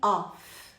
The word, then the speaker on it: off: Todas as vezes que tem um F só, você vai pronunciar como se fosse o V, para fazer a diferença. Off, com 2 Fs, eu pronuncio como F. Of, com um F só, eu pronuncio como V.